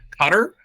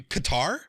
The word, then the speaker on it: Qatar: say it was cutter Qatar Qatar yes did I say cutter said cutter yeah I was like cutter who's cutter guar guar guitar rhymes with guitar oh well I started